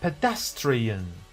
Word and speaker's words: pedestrian: Which way is the correct way to pronounce it? A. Pedestrian. 2. Pedestrian. And the answer reveals in 3, 2, 1. Pedestrian.